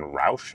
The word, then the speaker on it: Routh: So the big thing we know is the person who is accused of doing this, his name is Ryan Routh, I do believe is how it's pronounced.